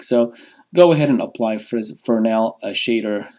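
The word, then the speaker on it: Fresnel: do not pronounce that Fresno it's a French word so it's pronounced as for now so we can put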